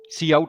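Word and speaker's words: cout: ना good to know सी आउट सी आउट ऐसे pronounce होता है है ना और यह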